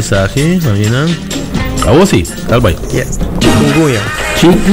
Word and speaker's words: Chikungunya: Vamos começar com a pronunciação. Show. Wala Clayton, wala Clayton. So meeting ya, awal sahi, mamina. Awo sim, calma. Chikungunya. Chikungunya.